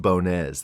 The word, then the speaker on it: Bones: It's actually pronounced Bones. That's a secret that not many people know because there's an accent over the E. It's French Portuguese.